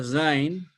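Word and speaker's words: Sein: da ahí y se que se pronuncia zin que significa ser junto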